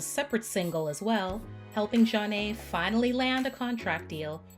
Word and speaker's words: Zhané: The track was released as a separate single as well, helping Jah-Nay finally land a contract deal with Motown Records in 1994. Their debut album, pronounced Jah-Nay, also produced 2 other